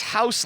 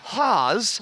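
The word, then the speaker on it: Hause: great job of saying it's house but not house it's haas rhymes with pause i was like perfect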